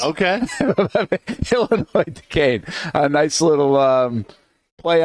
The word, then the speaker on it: Illinois: Illinois Duquesne. A nice little play on the alphabet at the very least. The silent S in both of those names. Unless you're an Illinois guy. Oh, no. They're Illinois in Wisconsin?